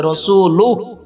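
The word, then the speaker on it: رسوله: আন্না মুহাম্মাদান আবদুহু ওরাসুল যদি থামেন তাহলে রসুলুহ আর যদি না থামেন রসুলুহু এবার অর্থ দেখুন আমি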